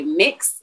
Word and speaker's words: Mx: saying mr or mrs some people will say mix mx or we'll write that down and so